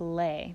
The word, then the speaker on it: Le: a flat instead of a natural it becomes lay when so is lowered by one half step